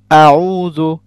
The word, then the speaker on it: أعوذ: You shouldn't stress first syllable, which is a. Make it first. It is going to be a. أعوذ. أعوذ. Do not say أعوذ. Do not make it, longer. It will be very fast and thin.